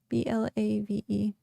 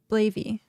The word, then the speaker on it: Blave: Blavey. Blavey. Okay. Blavey. No. I pronounced it wrong. I do this all the time. Glaive with a B. Blave.